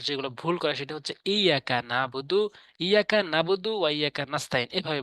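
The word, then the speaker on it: إِيَّاكَ: তিন চার নাম্বার আয়াত ইয়াকা চাপ দিয়ে বলতে হবে শক্ত করে এখানে না শক্ত করে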